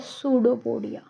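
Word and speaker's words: pseudopodia: यह जो अमीबा है it have a concept called as सूडोपोडिया।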